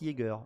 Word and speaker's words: Jaeger: chasseur en allemand alors ça s'écrit ea on m'a repris euh sur le le trailer ça écrit j e a mais ça se prononce Jager en effet donc c'est